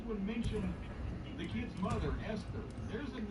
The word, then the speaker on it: Esther: How else do you pronounce it? Esther.